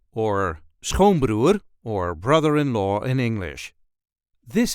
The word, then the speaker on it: schoonbroer: The emphasis here is also on the first syllable.